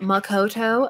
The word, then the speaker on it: Makoto: Also, I always say it like that. Makoto, let me enunciate all of the syllables.